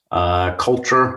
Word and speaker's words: CLTRE: Culture, or CLTRE as you pronounce, is merged into KnowBe4, and my role here is, I'm the global in charge of all things security culture research.